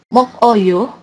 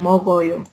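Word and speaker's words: 먹어요: Kemudian mok oyo dia bacanya bukan mok oyo tapi ini gioknya karena dia ketemu sama konsonan jadi dia pindah jadi mo dan bacanya aja ya.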